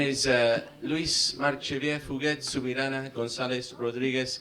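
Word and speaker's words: Lluís: My name is Luis Marchevier Fuguet Subirana Gonzalez Rodriguez Garcia Sanz.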